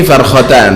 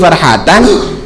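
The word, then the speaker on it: فرحتان: Keliru, salat ada titiknya, ada di situ, tapi titik liar, bukan karena lis-shaimi farhatan, dia bacanya lis-shaimi farkhatan.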